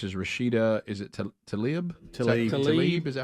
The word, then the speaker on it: Tlaib: Tlaib.